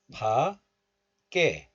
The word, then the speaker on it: 밖에: But still, pronouncing this word as 박, not 파, but 박, is still allowed. So you can pronounce these words like 밖에, 밖에. So 밖에 and 밖에 both are fine.